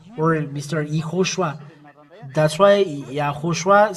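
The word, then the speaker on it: יההוֹשֻׁע: That's why YAHHOSHUA said, I wear the name of my Father. So he is the salvation. The salvation is established. He, then O, then Shu, and three dots under this, and Ah.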